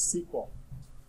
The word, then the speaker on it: SQL: query language thus thus to pronounce each that still Letarte to this day of SQL is sequel they had to change